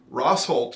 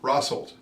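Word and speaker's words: Rosholt: you'll read about Stevens Point mosy pachelli Amherst rosol is what I was told is the correct pronunciation there I and Iola yeah it's a family name rosol but everybody else says rold yeah because people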